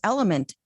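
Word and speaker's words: LMNT: And don't be confused cuz element is spelled L M N T.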